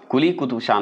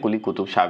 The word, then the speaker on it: कुली कुतुब शाह: भी बोल सकते हैं कुली कुतुब शाह भी बोलते हैं कोई दिक्कत नहीं है लेकिन कुली कुतुब शाह ज्यादा अच्छा उच्चारण होता है इसलिए बोला जाता